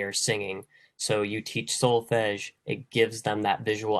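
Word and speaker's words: solfège: So hopefully I pronounce this right. Should solfege, is that right?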